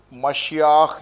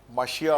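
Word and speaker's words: מָשִׁיחַ: اگر آپ old testament میں جائیں, جو مشیاخ یا ماشیا استعمال کیا جاتا ہے, مشیاخ یا مشیا دونوں تلفظ ہے ہیبرو میں, یہ واقف تھے ان سے.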